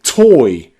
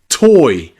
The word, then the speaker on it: toy: O-Y is also nearly always pronounced oi, like in boy, boy, or toy, toy, or soy, soy, or even employ, employ.